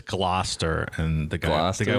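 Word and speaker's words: Gloucester: Ian, are you sure that's not pronounced Glausire? How is it pronounced? It's glow. It's glowester. Final answer. I I believe it's Glouester and the guy the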